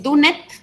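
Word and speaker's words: Dunnett: Y hay uno que se llama, se escribe D-U-N-N-T, DANET, ¿verdad? Es DUNET. Sería solamente para comparar con el testigo.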